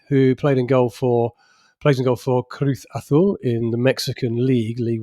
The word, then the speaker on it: Cruz Azul: Cruz Azul in the Mexican Liga. Great. Carry on. What, do you want to do better? That's actually how you pronounce it.